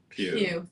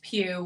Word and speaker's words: Pugh: Jr., Emily Blunt, Florence Pugh. Thank you. I never say it right. I always want to say Pug. And I know that's not it, but it makes me laugh. Florence Pugh.